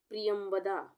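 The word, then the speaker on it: प्रियंवदा: तो यहाँ पे क्या हम पढ़ रहे हैं, प्रियमवदा, प्रियमवदा। प में आधा र, प्रि, ये छोटी की मात्रा हो गया, प्रि हो गया।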